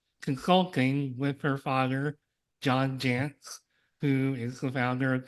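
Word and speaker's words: Jantsch: Sarah and her Father John Jance which rhymes with pants so I had to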